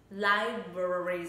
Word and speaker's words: library: Library rất nhanh các bạn ạ, library. Thì thực tế khi các bạn nghe mình đọc, các bạn sẽ thấy là chỉ có thường sẽ chỉ có two syllables, hai âm tiết thôi, đúng không ạ?